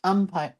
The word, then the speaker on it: Empire: Oh, Palma says, did you see that the Empire waist is pronounced umpire?